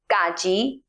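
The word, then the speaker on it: က: That is pronounced Ga. It sounds something between the English K and the English G, like the K sound in category.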